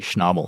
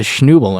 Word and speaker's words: Schnabel: And I go, "Well, it's actually supposed to be schnabel." And she's like, "Ah." Oh, okay, that makes sense, but what's a schnobel?